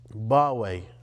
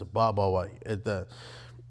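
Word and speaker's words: Babai: The Catholicos of the Church of the East, Bawe, or sometimes it's Babawe. It's a soft B there, so it's pronounced both ways.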